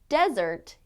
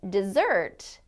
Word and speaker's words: desert: the correct word stress word stress is knowing which part of the word needs to be stressed or emphasized for example in English there are many words that are spelled the same but have different meanings depending on the way we stress the word for example the word desert is a noun meaning a dry climate but desert is a verb meaning to